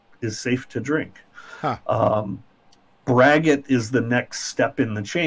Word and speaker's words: braggot: That's a braggart. Oh, okay. This is a braggot. Okay. So no R.